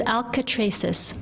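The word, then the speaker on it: Alcatraces: more to the right it is alka traces four syllables i have marked with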